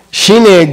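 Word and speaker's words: ཞི་གནས: Shine is almost spelled the same. The second syllable is low tone. Okay? That's the only difference.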